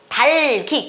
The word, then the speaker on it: 닭이: 닭이가 아니라 달기, 기억이 뒤로 넘어가서 달기라고 읽습니다.